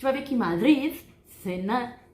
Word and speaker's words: cenar: Em espanhol, eu posso falar interdental. Cenar, jantar, cenar. O som de doble S para quem está começando a aprender espanhol, ¿sí? Cenar, haciendo um sonido fuerte. Cenar ou cenar, ¿sí?